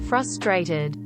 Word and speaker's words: frustrated: in emails my boyfriend doesn't pronounce the first star in frustrated he sounds like a